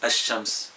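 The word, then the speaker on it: الشمس: Parce que le L de Qamar se prononce, le L de Shams la lam ne se prononce pas, elle devient shams, ash-shams. On a shams indéfini, ash-shams. Le L, on le saute et on l'introduit dans la lettre qui suit.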